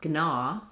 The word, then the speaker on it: gnaw: We no longer say gnat or gnaw. Gn being difficult to pronounce, the g sound dropped out of our speech.